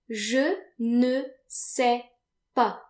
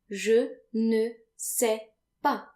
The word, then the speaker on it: je ne sais pas: And if you don't know something, then you want to say je ne sais pas. Je ne sais pas. And notice that the final S's are silent, like they normally are in French.